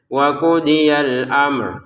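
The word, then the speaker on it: وقضي الأمر: Untuk al-amr perhatikan ada 2 sukun di sini, yaitu mim sukun dan ro yang dibaca sukun. Jadi cara bacanya wa qudiyal amr seperti itu.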